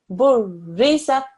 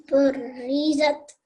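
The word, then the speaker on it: بُرِّزَتْ: And the important thing to do is to recognize that there's a tashdid there, so you have to press down on the ra, okay? Burizat. Burizat.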